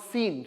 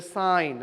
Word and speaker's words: sine: as the small way is sign actually not seen so don't Mehmed II call pronounced like seen is not as seen is a sign okay si any but in short we are